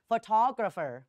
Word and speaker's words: photographer: ม ไม่ มี นะ photographer ออก เสียง ว่า photographer photographer นะ คะ จะ มี เสียง ตัว อ